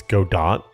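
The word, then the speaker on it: Godot: It's God dot. So, everybody's been pronouncing it wrong.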